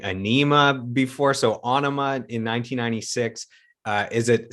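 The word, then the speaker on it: Ænima: album names but uh onoma is that how you animate that's how that's how maynard says it he's the writer so it's onoma for him i i've been saying anema before so onoma in 1996 uh is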